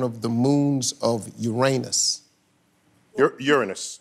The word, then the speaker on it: Uranus: Uranus, I think, is how we pronounce it. No, Uranus is the thing in the middle.